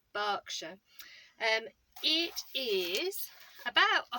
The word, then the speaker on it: Berkshire: which is another one of the Home Counties pronounced Berkshire but actually spelled e ER KS h ir e so if you've ever seen it written down you might have thought it was Berkshire but it's actually pronounced Berkshire and each is